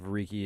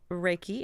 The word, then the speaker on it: Reiki: into it describe what like the definition of Reiki is yes it's it's pronounced Reiki and it's REI ki and it has of